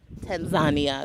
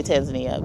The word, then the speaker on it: Tanzania: No entry to Tanzania. That's how they say it. We say Tanzania, but it says Tanzania.